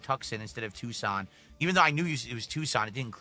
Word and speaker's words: Tucson: So we can go to Tuxen. Is it Tucson? It's Tucson is how you pronounce that, right?